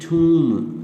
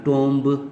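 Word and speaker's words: tomb: सब जो है ना, but this should be ठूम, नॉट टोम्ब जो अक्सर पढ़ते हैं या पढ़ाया जाता है, ठूम।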